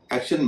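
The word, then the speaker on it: action: एक्टिंग में टी के बाद ING है, एक्शन में टी के बाद ION है। लेकिन एक्शन में टी का उच्चारण श हो रहा है।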